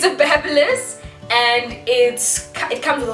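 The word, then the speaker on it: BaByliss: I used to call it babyless until I heard other people call it babless. It's a babless, and it comes with a whole lot of other attachments.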